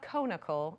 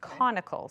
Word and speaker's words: conical: to pronounce that um it's like the adjective like related to the word cone so it's not conical it's conical so if you picture